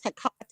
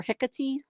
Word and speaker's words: Hecate: Also as Hecate or Hecate. Oh, okay. Those are the most common pronunciations.